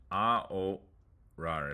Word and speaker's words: ahorrar: But that H is silent. Ahorrar.